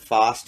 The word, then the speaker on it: Fast: Even though they pronounce it Fost, you're a hockey player, and it says Fast on the back of your jersey. That's so cool.